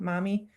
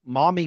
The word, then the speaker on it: Maumee: Maumee? Oh, it's like mommy. Maumee. I guess Yes. it's not like mommy. Maumee.